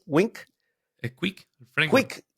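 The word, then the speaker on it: Qwik: ¿Cómo se pronuncia? ¿Wink? ¿Es Quick? ¿El framework? Quick, Sí, ok, Quick.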